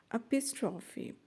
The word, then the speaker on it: epistrophe: Epistrophe, pronounced epistrophe, is when a certain phrase or word is repeated at the end of sentences or clauses that follow each other.